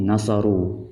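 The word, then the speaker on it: نصروا: Seperti nasaru, lam yahduru, uqtulu. Nah, di sini ditambahkan alif. Tapi alif ini yuktab wala yulfat, tertulis dan namun tidak terlafalkan, tidak diucapkan.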